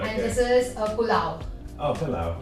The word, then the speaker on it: pulao: I'm Pav not going and- to be able to pronounce that. Okay, Pavbhaji. Pavbhaji. Yeah, perfect. Right, And okay. this is Pulao.